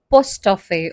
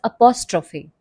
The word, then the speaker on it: apostrophe: another important punctuation mark apostrophe mistakenly pronounced as postop or post office it is apostrophe and apostrophe is a